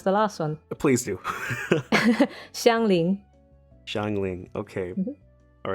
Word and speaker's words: Xiangling: Shall I tell you how to pronounce the last one? Please do. Xiangling.